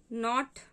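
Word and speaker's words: knot: Not, K-N-O-T not और N-O-T not, यहाँ पर K साइलेंट है.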